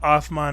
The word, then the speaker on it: Uthman: So words like hijra will be higara instead of hijra. And apparently they use an O. They have Othman instead of Uthman.